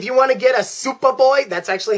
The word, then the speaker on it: SupaBoy: Once again, guys, if you want to get a SupaBoy, that's actually how it's spelled, S-U-P-A-B-O-Y.